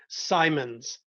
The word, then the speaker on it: Symonds: I'm here with Mike Mike how do you say your last name simons okay so it's like that's very simple I was taking out